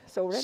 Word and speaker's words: Soren: Oh, it says so, comma, rin. So rin.